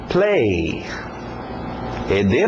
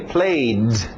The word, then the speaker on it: played: Play. ED no final, no passado, mas só o som de um D. Played. Para no D.